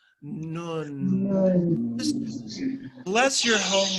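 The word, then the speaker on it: נון: Before I get into the layers of this, I'm wondering if you could just simply pronounce the name of it and feel it in your lips. The letter is Nun. Nun.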